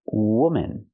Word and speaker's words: woman: woman you have one woman use the u sound like good and book w w w woman the second syllable is relaxed and closed woman one woman but